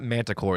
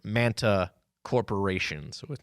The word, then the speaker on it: Manta Corporation: they are and that that would be not Manticore it's Manta corporations it's it's cool it sounds